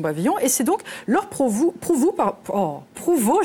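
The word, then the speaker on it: Prouvost: Et c'est donc Laure Prouveau, je vais y arriver, j'ai interverti les deux syllabes. Prouveau, qui est une plasticienne et vidéaste plutôt provocante avec des installations immersives qui font cogiter.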